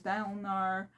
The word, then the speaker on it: Dalinar: Kaladin is Kaladin, Dalinar is Dalinar, Navani is Navani, Yasna is Yasna, oh, Sit.